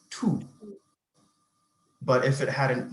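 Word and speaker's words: tous: followed so for example the second word that we see is t-o-u-s which would be pronounced tu but if it had an e on the end it would be tuzu okay so this um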